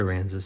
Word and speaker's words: Aransas: Did I pronounce it correctly? I think so. Aransas. It's Port Aransas.